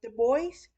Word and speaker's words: Dubois: Cassidy purchased a ranch on the outskirts of Dubois. I want to say it's Dubois. I think the S is silent like Illinois, but I'm not sure, but I want to